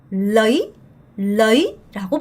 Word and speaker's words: lấy: 여러분 이거 러이 아니고요. 어가 짧고 y에 강세가 들어가서 레이라고 발음하셔야 돼요.